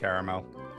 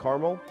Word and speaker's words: caramel: No, it's the same thing, but you can pronounce it both ways.